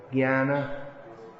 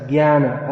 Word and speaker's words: Jnana: Gya, Jana, as in Jnana. Okay, that's an important one. When you see a J with an N following it, and a squiggly line over the N, you can pronounce it as Gya.